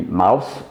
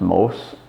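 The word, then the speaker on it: Mauss: so most for example Mau SS would be Mouse in German but it's pronounced Morse in the French way and latest Ross is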